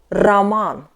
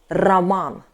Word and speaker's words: роман: But in Russian, R is harder in English too. Try to pronunciate it with tongue near your front teeth too. R, R, R. Yeah? With vibration. R. For example, Roman.